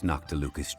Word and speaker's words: Noctilucous: Now that we've made our choice, let's take this Noctilucous Jade back. It fucks me up that they say Noctilucous instead of saying Noctilicus, because I've been pronouncing it Noctilicus this entire goddamn time.